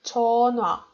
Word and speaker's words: 전화: So you don't read it like 전화, but you read it without h, like 전화.